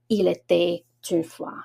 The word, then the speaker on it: il était une fois: For example, the beginning, when you say once upon a time, in French we say il était une fois. So I do connect the T with the U sound.